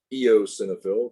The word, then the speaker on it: eosinophil: i talked about those eosinophils you don't know how to pronounce it you pronounce the the e then you pronounce the o then it's a cenophil eosinophil basophil histamine heparin in